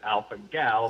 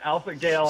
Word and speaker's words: alpha-gal: name to pronounce, and everyone calls it Alpha Gal for short. But I heard you pronounce it Alpha Gale, and I'm like, I have to call and see if I can get through it.